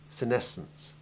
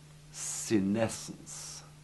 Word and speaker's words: senescence: Senescence. The following guidelines are fairly reliable for pronouncing SC. It is only when SC is followed by E, I, or Y that the C is silent.